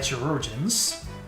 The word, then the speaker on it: chirurgeon: This has been verified through several medical reports and qualified chirurgeons. Chirurgeons? How do you pronounce that? Chirurgeon. Pronunciation. Oh. Well, I had that wrong.